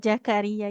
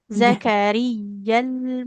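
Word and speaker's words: زكريا: Tidak Zakaria ya. Pakai Z. Ya. Zakariyal mihrab.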